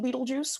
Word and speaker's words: Betelgeuse: And so the pronunciation Beetlejuice was not the dominant pronunciation. It was a pronunciation that was accepted, but when around 1988 was actually when everyone started calling it Beetlejuice.